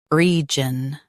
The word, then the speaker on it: region: Jun, region. Stress re and keep jun light.